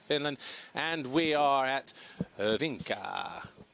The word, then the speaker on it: Hyvinkää: We're at the MXGP of Finland, and we are at Hyvinkää. I just spoke to the security guard a moment ago. That's how he said you pronounce it, Hyvinkää.